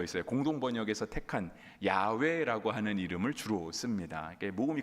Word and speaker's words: 야훼: 그러다 보니까 실은 야훼가 아니라 야베가 맞을 것이다라고 말하는 학자들도 많이 있어요.